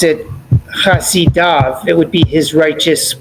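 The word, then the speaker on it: חֲסִידָו: So typically we would have kamatz yud vav when we want to pronounce av, chasidav. But the verse eliminates the kamatz and the yud. That's what I want you guys to take note of, that we pronounce it chasidav even though the yud is eliminated.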